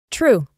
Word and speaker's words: true: Una fácil, la U como una U normal. Mira, esta palabra la pronunciaríamos true. Otra vez la E es muda.